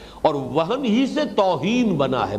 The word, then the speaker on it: وہن: note کر لیجئے، وہن، ویسے یہ کہ تلفظ میں وہم جو ہے میم کے ساتھ، یہ چونکہ ہمارے ہاں عام طور پر لفظ استعمال ہوتا ہے، آپ کو مغالطہ نہ ہو، یہ نون کے ساتھ ہے وہن، اور وہن ہی سے